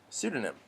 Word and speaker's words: pseudonym: but in that as in that pronunciation we don't say the the P sound that's at the beginning the first letter of that word we just say pseudonym just yes but in